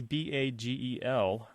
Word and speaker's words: bagel: You know, we put I pronounce it like by the bay, and she's pronouncing it like bag lady kind of thing. Yeah. Bag lady. You know, like B-A-G, like a bag you would hold a grocery sack or something like that, and